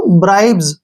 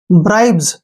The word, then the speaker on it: bribes: जब भी S से पहले BE आता है तो उसको हम जय का उच्चारण करेंगे।